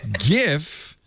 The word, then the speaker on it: GIF: normal label jif creamy peanut butter soft g pronunciation on the far side gif animated looping images heart g pronunciation and the